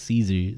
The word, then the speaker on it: Caesar: Like, imagine imagine Julius Caesar saying or sorry, I guess Kaiser it's meant.